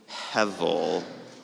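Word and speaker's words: הבל: Hevel.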